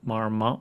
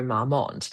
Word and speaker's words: Marmont: Um tell us about Arya Jones and the Chateau Marmont Marmont Marmont I I'm not sure how to pronounce Marmont, yep.